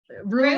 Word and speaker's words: Rugh: so Rugh, R-U-G-H, if you want to read is that how you pronounce it? Yeah? Rue is Rue, yeah.